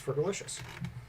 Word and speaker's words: Fergalicious: It has to be I, E, but I don't think she says the second I or the first I because, syllables. It's Fergalicious.